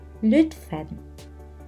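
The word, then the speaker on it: lütfen: Lalu dengan lidah yang sama pindah ke huruf U. I U I U kata dutf. Lutfen e Lutfen artinya tolong.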